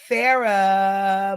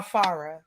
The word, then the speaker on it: Farah: Y'all welcome Farah Moniz. Yeah. Athleisure wear. Am I saying it right? Farah or Farah? No, you had it right the first time, girl.